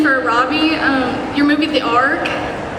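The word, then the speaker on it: ARQ: I did a Netflix movie called Ark. It's spelled A-R-Q.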